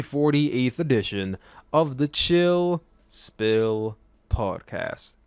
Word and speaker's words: Spill: This is the 48th edition of the Chill Spill Podcast. The S is silent, by the way.